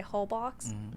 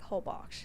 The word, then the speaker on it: Holbox: So Americans say Holbox, but I think it's pronounced like Holbox.